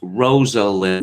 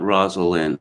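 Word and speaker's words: Rosalynn: Frothing Fanboy says, Rosalind Carter, pronounced Rosalind, not Rosalind.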